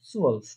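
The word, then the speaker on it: zwölf: এখানে দেখেন একটা উমলাউট আছে। ঠিক আছে, সুয়ালফ বলার সময় একটা ঠোঁটটা একদম গোল করে ফেলতে হবে।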